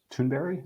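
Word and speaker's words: Thunberg: for CDR I was really inspired by Greta tunberry I think that's how you say her name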